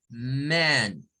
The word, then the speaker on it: man: Comienza con A y luego va la E.